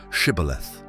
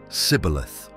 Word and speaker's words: Shibboleth: If identified as Ephraimites, they were asked to pronounce the word Shibboleth. However, due to their Egyptian heritage, they could not pronounce it correctly, using the form Sibboleth.